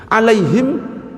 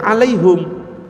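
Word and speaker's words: عليهم: Alaihim kadang-kadang ada yang baca alaihum tapi ya enggak usah aneh-aneh.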